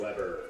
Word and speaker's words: Weber: Number 5, Shea the Grillmaster Weber. That was pretty good by the PA announcer, the Grill Master, because he's the same way you pronounce Weber Grills, basically.